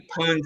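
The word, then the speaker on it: pwned: you pronounce it you got to think owned when you owned someone and you you you you poned them i think i think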